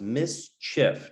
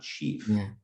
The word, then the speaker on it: mischief: so misbehavior indicating that mischief right is pronounced mischief not chief so what what that's